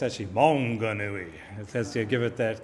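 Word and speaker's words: Maunganui: called Mount Monganui and I heard it um pronounced on the TV Manganoui. It's actually Monganui as you give it that kind of Mauy sort of uh pronunciation.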